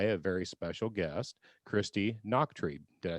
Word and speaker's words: Nachtrieb: joined today by a very special guest christy noctree did i say it right this time that's